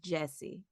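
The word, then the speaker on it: Gyasi: I believe that her last name is pronounced Jessie.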